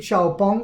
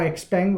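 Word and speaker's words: XPeng: out 2 100 so we beat xiaopong or expang whichever way you want to pronounce it expang is also another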